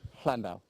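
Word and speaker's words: Llandow: So you put the tongue to the roof of your mouth and express the double L sound, which is actually a letter in the Welsh alphabet. Landau.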